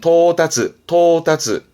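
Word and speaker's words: 到達: 발음은 토다츠.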